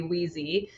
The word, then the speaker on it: Weezie: And we love that it also rhymes with easy, so we use that a lot in our branding. So, monogram towels should be easy, Weezie.